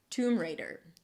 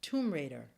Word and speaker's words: Tomb Raider: Don't pronounce a hard D because it's between two vowels. So it's not 'reiDer', but 'reider'. And then you pull it in for the /r/ sound reid-r reid-r. tuwm reid-r tuwm reid-r Oh and